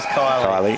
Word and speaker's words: Kylie: Kylie yeah lamb Kylie Kylie may look like Killy but is Kylie Kylie so I just think